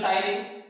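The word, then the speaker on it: ptyalin: टाइलिन भी कहते हैं, लेकिन टी से स्पेलिंग स्टार्ट हो रही है टाइलिन। अगर इसमें साइलेंट वर्ड रखना ही था तो सीधा टी से शुरू कर देते, ये जरूरत क्या थी पी की, टाइलिन।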